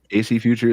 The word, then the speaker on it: AC Future: Arthur Jason, COO of is it AC Future? Am I pronouncing that correctly? Yes, Brian. Thank you. Okay. Yes. Cool. AC Future is here.